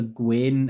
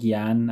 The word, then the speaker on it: Gyan: I think it's Gyan. I used to call it the Gwen, and then I realized it's not called that, so it's called Gyan, I believe it's called.